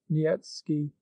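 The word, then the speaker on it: Niëtzky: a certain polish nobleman nikki pronounced nyetsky had obtained the special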